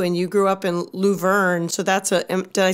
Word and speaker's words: Luverne: I know music has always been sort of a love for you, and you grew up in Luverne.